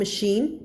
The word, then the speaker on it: machine: อ ก เ สี ย ง ว่ า machine ch เ ว ล า เ ขี ย